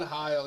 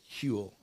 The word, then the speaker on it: Huel: No, it's Huel or something. It's pronounced like Huel.